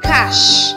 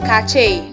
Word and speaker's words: cache: You pronounce this word as cash, not cache.